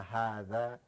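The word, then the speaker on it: هذا: But when you pronouncing it, say ma hadha, it's supposed to be alif between the ha and the da. Okay, but they eliminated.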